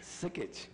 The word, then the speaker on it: Sikich: How many jobs at Skitch, or how you pronounce that? Sikich? Sikich.